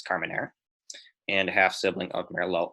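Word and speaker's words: Carménère: half sibling of Carmenere not to be pronounced harming year it's Carmenere and half sibling of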